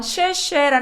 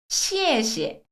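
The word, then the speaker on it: 谢谢: 합니다 쉐 이래요 오늘부터 쉐 쉐라 발음은 잊어 버리겠습니다 쉐쉐 아니라 중국어의 리얼 발음으로 갈게요 시시 다르죠 시에시에 잘 한정하면서 시시 떨어져야 돼요 시에시에 오케이서 쉬쉬 아니에요 시에시에 시에시에 고맙다 시에시에음 내가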